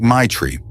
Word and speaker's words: Maitra: "Maitra," he said, pronounced like Maitri.